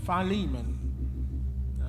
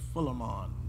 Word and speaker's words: Philemon: got it finally man Philemon some folks might pronounce it filamon but all right y'all with me and we're going to read Verses 4 through 18.